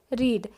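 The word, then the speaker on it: read: First form को हम बोलेंगे रीड, सेकंड को रेड और थर्ड को भी रेड।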